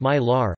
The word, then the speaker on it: MiLR: The three universities are electronically interconnected via the Michigan Landrail (MILR), pronounced MILR, a high-speed data network providing